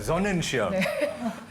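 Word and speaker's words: Sonnenschirm: 다시 돌아가서 존넨 시름 했을 때 여러분은 이런 걸 상상하게 되는데 똑같은 단어를 독일식으로 발음하면 사실 존넨 시름이 뭐냐면요. 다시 한번 신하영 씨. 이걸 읽으면 존넨슈. 맞아요. 존넨시엄. 존넨시엄을 한국식으로 표기하면 존넨시름으로 표기를 하더라고요.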